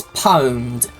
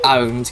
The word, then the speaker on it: pwned: multipli which one to choose no no it's pronounced it's it's pwned but I just prefer owned cuz pwned just makes you sound ever so